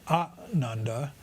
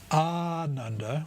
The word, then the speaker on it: Ananda: Ananda, with a long A at the start, at least said for at least double the length of a short one, Ananda means joyful.